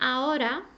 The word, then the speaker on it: ahora: is massive because if I say aora very softly it means now if I say Aura I'm telling you to save money okay it comes from the verb Aura to save so it does change